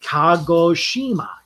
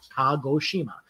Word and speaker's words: Kagoshima: Then says Kagoshima. Kagoshima.